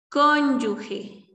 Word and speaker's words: cónyuge: de lubián y tenemos el término cónyuge cuando lo correcto es cónyuge así sin la u cónyuge fin entonces ese es